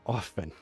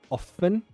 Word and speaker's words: often: pronounce the t in often you can choose often without an h or often it doesn't matter you choose your favorite way they're both correct it's like either either